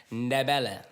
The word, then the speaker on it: Ndebele: So I shall, my last name, I'll pronounce it the proper way. It's Ndebele. That's how you say it. What was that? Ndebele.